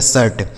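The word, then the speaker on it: shirt: आपको समझा दिया कि आई के बाद आर लिखा होगा तो आई का उच्चारण अ हो जाता है इसलिए हम इसको शीट ना पढ़ के शर्ट पढ़ते हैं शर्ट बोलते हैं ना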